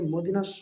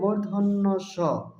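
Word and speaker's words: মূর্ধন্য ষ: ব এ বিন্দু র ল তালব্য সঠিক উচ্চারণ হবে তালব্য স তারপরের বর্ণটি হল মূর্ধন্য স এটাকে অনেকে মদিনার স বলে থাকে সঠিক উচ্চারণ হবে মূর্ধন্য স তারপরের বর্ণটি হল দন্তস দন্তস জিবার আকারটা সামনের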